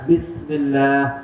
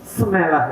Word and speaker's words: Bismillah: yang ngangkat-ngangkat sayur gudeg itu, apa coba Pak bacanya Pak? Kalau kita kan Bismillah, yang Arabnya benar ya. Mereka itu Pak, yang namanya orang Jawa, bacanya Semelah kata.